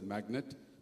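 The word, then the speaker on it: MACNAT: We have had SIDM from the defense manufacturers but globally there's an organization called Magnet MAC NAT. It's it's pronounced as magnet.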